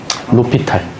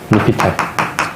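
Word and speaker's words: L'Hôpital: 로피탈. 로피탈. 이거 L이야, L. 이거, 어? 뭐, 묵음 처리 되겠지. 그래가지고 이제 로피탈이라고 읽어.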